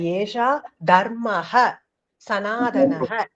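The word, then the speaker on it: एष धर्मः सनातनः: highlight பண்றேன் பாருங்க அதுதான் ஏஷா தர்ம சனாதன சனாதனம் சார் அது பிரசென்ட் ஆகாம இருக்கு வந்திருக்கும் இப்ப வந்திருக்கும் பாருங்க சொல்லுங்க பானுபிரியா சார் அது ஏஷா தர்மஹ சனாதனக சரியான சரியான உச்சரிப்பு அதுதான் இப்ப தெரியுதா வசனம்மா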